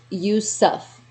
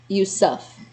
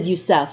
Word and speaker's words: Yusuf: morning darling okay and it's pronounced you suff you suff didn't didn't i say that or i said yousaf huh you suff okay i feel like i